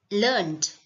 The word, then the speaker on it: learned: need to remember is learned as a verb is learned just learned we don't need to add an extra syllable but when it is used an adjective in order to say something is like someone is educated in order to describe or if this word means educated then we add an extra syllable learn it right so let's go